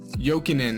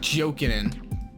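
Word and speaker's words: Jokinen: best lines here um joking in is how you say that by the way not joking joking koslov that's our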